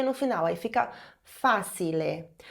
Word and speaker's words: facile: Adiciona um E no final, aí fica facile. Porém, você sabe que o CI em italiano tem som de T, então facile. Agora, finge que você não está tentando dizer facile, finge que você ouviu essa palavra facile.